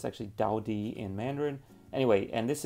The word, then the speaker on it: Tao Ti: sparkling mango peach drink from the taiwanese brand tau t uh as it's pronounced here but it's actually daudi in mandarin anyway and this is from their